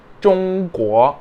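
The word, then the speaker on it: 中: احنا ما بننطقش الجي في اللغه الصينيه خالص، بيبقى مكتوم من جوه البق خالص، بنقول ان لو جبته كده من سقف حلقي همسك الجي.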